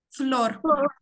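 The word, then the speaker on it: flor: Тільки не floor. Оце англійське, оце O не треба. Просто floor. Флор. Просто флор.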